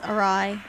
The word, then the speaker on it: awry: My god, I learned how to pronounce awry.